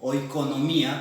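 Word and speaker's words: οἰκονομία: Literalmente, oikos nomos, o oikonomía, como se pronunciaba en griego, hacía referencia a la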